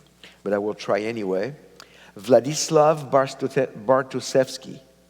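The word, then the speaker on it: Władysław Bartoszewski: I will try anyway vladislav bartosevsky that was not too bad what baruchevsky okay vladislav baruchevsky we have people who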